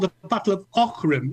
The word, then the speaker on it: Aughrim: It's the that Andy following got year, taught- and it's called the Battle of Ockram. It's spelled Aughrim, but it's pronounced Ockram.